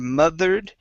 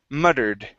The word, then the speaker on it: muttered: here first up the double t give me a good d sound instead of mothered it's mud muttered muttered mother day there you go